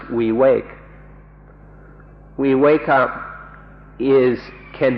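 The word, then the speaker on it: viveka: of freedom in pali the word is the vacant v IV e ka or we wake up and entires pronounced we wake we wake up is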